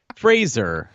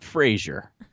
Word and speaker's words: Fraser: Well, thank you guys for playing Fraser, not Frasier. I always thought it was Frasier.